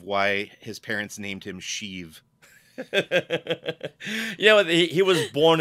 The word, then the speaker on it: Sheev: Isn't it spelled like Shiv though? Sheev. Oh, it is Eev. Yes. Okay. Yeah. All right. I thought it was just a long I.